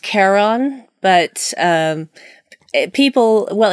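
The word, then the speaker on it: Charon: a CH pronounce it Sharon or share on but I think it's I think it's pronounced Karen I could be wrong today I watched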